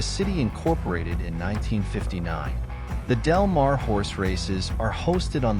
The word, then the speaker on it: Del Mar: seaside resort the city Incorporated in 1959 the delmare horse races are hosted on the delmare racetrack